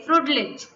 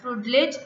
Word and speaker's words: Freundlich: A graph you can see which the relation is been given with respect to the Freundlich, or we can say Freundlich, right? N is silent, Freundlich isotherm.